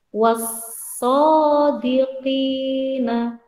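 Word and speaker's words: الصادقين: Jadi langsung dibaca wassadiqina, masuk ke huruf shad. Kalau idhar komariah tadi bacanya kan alnya terbaca. Misalnya wal ardi. Kalau idgham syamsiyah alnya tidak terbaca. Wassadiqina, masuk ke huruf shad.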